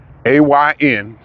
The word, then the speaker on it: Ayn: Ayn Rand, A-Y-N, still learning how to pronounce that. I don't want to say Ann. I think it's Ayn Rand.